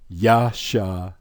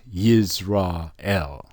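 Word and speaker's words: ישראל: You put it all together, you have Yasharal. Not Yisrael or Israel. Yasharal.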